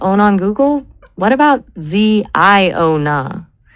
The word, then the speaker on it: Ziona: If we want something that feels biblical and prophetic but is fresh enough to own on Google, what about Ziona? It's 3 syllables.